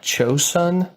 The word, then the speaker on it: Joseon: I think the pronunciation is something like Chosun.